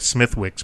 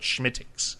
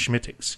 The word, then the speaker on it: Smithwick's: It looks like Smithwick's, but it's called Schmittix. It's pronounced Schmittix.